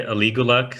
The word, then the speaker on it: Aligulac: Personally, I would say Aligulac.